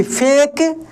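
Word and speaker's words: fake: ई हो क्या हो जब किसी वर्ड के अंत में ई हो लास्ट में हो तो ई का उच्चारण नहीं होता है जब किसी वर्ड के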